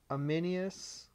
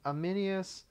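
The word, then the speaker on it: Ammianus: c e l l i n u s amminus marcelin Marcel Marc marcelus that's I think how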